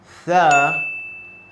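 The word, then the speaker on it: ث: By the way, if you have studied well the previous lecture, you will understand tha is one of these letters. Your tongue should go between your front teeth.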